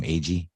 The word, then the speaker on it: Agee: steve iggy how do you say his name agee steve yeah yeah he was good but he